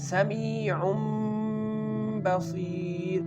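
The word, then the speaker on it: سميع بصير: But here when the ba is coming after this letter, we can pronounce this word as sami'un basir, changing the noon sound into the meem sound.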